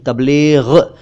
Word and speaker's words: तबलीग: सबसे पहले तबलीग, तबलीग नहीं तबलीग, ये अरबी भाषा से उर्दू में आया।